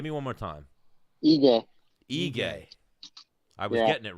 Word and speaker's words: Ige: see in Danny Dan but how do you pronounce it again give me one more time what egay are we reading it right and I [